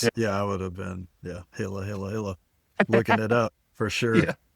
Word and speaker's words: Gila: So it's like Gila monster, but it's pronounced Gila. Okay. Yeah. I'm just gonna have to FYI. Yeah, I would have been, Gila, looking it up for sure.